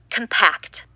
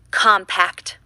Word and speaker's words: compact: When it is used as an adjective or as a verb, it is pronounced compact. When it is used as a noun, it is pronounced compact.